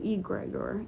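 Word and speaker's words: egregore: Thank you, egregor. Egregor. Okay, that's how you say it.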